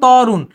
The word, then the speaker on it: তরুণ: যদি আমি এটা লিখতাম, এটা আমি লিখতেছি হচ্ছে তরুণ, কিন্তু আমি যদি এটাকে উচ্চারণ লিখতে যখন কি হবে, আমি তরুণ বললাম কিন্তু বলি তরুণ, তো আমি ত এর